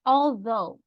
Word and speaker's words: although: Reina, what about the word although? Although. Though. Second syllable, right?